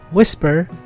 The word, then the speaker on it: WSPR: my qth let's begin wspr pronounced whisper is an acronym for